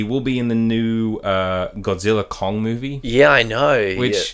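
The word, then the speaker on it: Godzilla x Kong: It's supposed to be like anime where you don't pronounce it, you just go Godzilla Kong.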